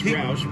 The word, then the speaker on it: Rauch: Is it Rauch or Roush? I'm Whatever. It's Roush, He might want to forget what happened on this day in history.